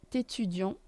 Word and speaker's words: étudiant: Il est étudiant. Liaison. Il est étudiant. Étudiant. T is silent for both.